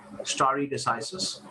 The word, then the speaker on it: stare decisis: story decisis is important this is pronounced as story decisis okay doctrine of precedent